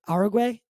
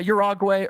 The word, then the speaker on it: Uruguay: flying over um um how do you pronounce it Uruguay or yeah urogway Uruguay there's a couple ways proper a couple of